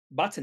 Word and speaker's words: Butn: to look at is button now button is pronounced button i actually had to go and look at